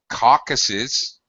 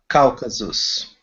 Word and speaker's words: Caucasus: Don't say caucuses. Caucasus.